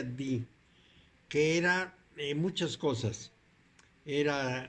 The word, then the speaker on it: Dee: En Inglaterra había un personaje llamado John Dee, que se pronuncia Dee, que era muchas cosas.